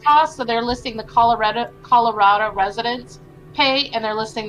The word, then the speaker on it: Colorado: For the record, it's pronounced Colorado. Everyone local says it Addo.